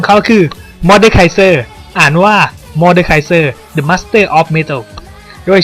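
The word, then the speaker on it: Mordekaiser: คือ Miser อ่าน ว่า Moriser the master of Metal โดย ชื่อ ของ เขา แบ่ง ออก เป็น 4 พยางค์ คือ Miser เรา จะ อ่าน ผิด เป็น moder ไม่ ได้ นะ ครับ เพราะ ว่า เป็น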